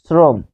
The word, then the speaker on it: শ্রম: যখন তালব্য ষ দন্ত ন অথবা র এর সাথে বসবে রফলা, তখন কি হবে? সেটি দন্ত ষ হবে, উচ্চারণে কি হবে? দন্ত ষ হবে। ফলে আরেকটা লিখবো শ্রম। দেখুন, শ্রম, শ্রম, এটি উচ্চারণ কি হবে?